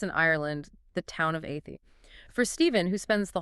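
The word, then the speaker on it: Athy: You have to hear Athie as a thigh. Because there is a thigh in it.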